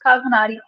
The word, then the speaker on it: Cosmonauty: That's how I pronounce it, Yes, Cosmonauty.